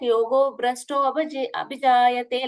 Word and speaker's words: योगभ्रष्टोऽभिजायते: Here, Brashto and Bijayate, there is a gap, right? So there we pronounce it like Yogo Brashto Abhijayate, like that we will call it.